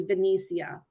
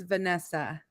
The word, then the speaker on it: Vanessia: was giving us, but people pronounce it wrong and they call me Vanessia. Well, that's what I thought it was Oh, until then I saw Nessa and I was like, I bet it's Vanessa. yeah. So yeah. Yeah. Just the I is silent.